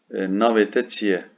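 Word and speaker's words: navê te çi ye: Navete çiye. Neymiş navete çiye? Adın nedir? Navete çiye. Bir şurada görüyorsun şapkalı E harfi var. E diye okunuyor.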